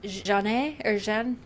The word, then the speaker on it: Jane Avril: But anyway, her name is Jeanne. But I'm going to say Jane because it's spelled Jane.